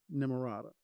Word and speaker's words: Nimarata: Nimarata.